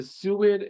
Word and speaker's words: SUID: So the next thing I'm going to talk about is something called the suid and guid, and that's actually exactly how you pronounce it, the SUID or the GUID.